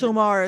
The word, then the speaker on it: Midsommar: That was just Midsommar is how it's pronounced.